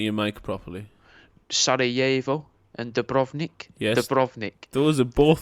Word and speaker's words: Dubrovnik: Sarajevo and Dubrovnik. Yes. Dubrovnik. Those are both. That's brilliant pronunciation.